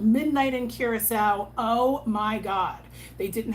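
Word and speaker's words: Curaçao: Please say it right. Don't say Curacao. It's called Curacao.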